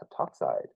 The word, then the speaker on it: heptoxide: I think it's pronounced heptoxide. Yeah, so it's dichlorine heptoxide. You drop the A in that one also.